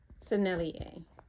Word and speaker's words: Sennelier: Sennelier.